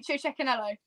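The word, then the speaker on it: Cecchinello: the team boss you chinello oh yeah check yeah yeah no it's a no no no no not a bir poo it was definitely CH Canelo okay um I think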